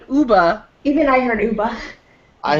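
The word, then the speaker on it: Ooba: The way he spelled it is O-O-B-A. It sounded like you were saying Hoba. No, I said Uba.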